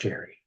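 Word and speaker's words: Jere: So you spell your name J-E-R-E, is that correct? Yes. But it's pronounced the same way as if it was spelled J-E-R-R-Y, as in Jerry? It's pronounced Jerry.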